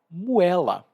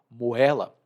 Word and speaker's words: moela: E uma das partes menos nobres do frango é a moela, ou moela. E se escreve M-O-E-L-A, moela.